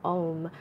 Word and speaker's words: om: It's the three syllables of O-U-M, om, and it reflects that creation, maintenance, and destruction.